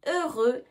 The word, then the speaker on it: heureux: Attention, on ne prononce pas le X. Je suis heureux de te revoir.